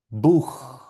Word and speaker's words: Buch: Esto suena Buch.